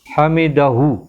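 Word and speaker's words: حمده: শুনছেন সামি আল্লাহু লিমান হামিদা হামিদা বললে যদি হা এর উচ্চারণ না হয় হবে না হা সহ আসতে হবে হামিদাহ এটা যাতে আমরা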